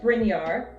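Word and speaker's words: Brynjar: have icelandic names but brinyar so b-r-y-n-j-a-r because the j is pronounced like a y i don't think we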